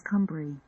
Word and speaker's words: Cumery: name of my great-grandmother, Margaret Cumery, a name that is pronounced locally as Cumbry.